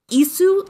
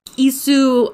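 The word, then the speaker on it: qisu: Now, Isu is, I'm sure I'm not pronouncing it right, but it's a non-vocalized Q. It's spelled Q-I-S-U. You don't pronounce that Q, you make it a glottal stop instead.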